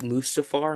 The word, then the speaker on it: Mustafar: But I feel like it looks like it looks but like Mustafar in episode 3. Think I pronounced that wrong. Yeah, you said that correctly.